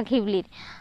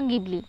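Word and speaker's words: Ghibli: এই জিবলি গিবলি বা ঘিবলির আর ইসাও ওকাহাতা এবং তো সুজুকি গিবলি নামটি রাখা হ রাখা হয় একটি বিশেষার কারণে উচ্চারণের জিবলি বা গিবলি মূলত এটা ঘিবলি এই শব্দটি এসেছে ইতালিয়ান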